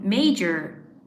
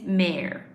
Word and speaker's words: mayor: A lot of people in Spain you guys people say um major you know may but major is a different word. So really the the pronunciation of this one is mayor.